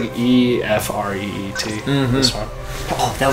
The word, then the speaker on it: Ifrit: This is I like E E. Yeah. I don't know. I think it's like Ifreet.